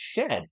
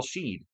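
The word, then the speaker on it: Shead: His name is pronounced shed.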